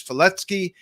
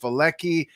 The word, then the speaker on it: Falecki: to have eigor fety on the the Polish pronunciation is fety in English spelling it is pronounced feli you can call him eigor uh so I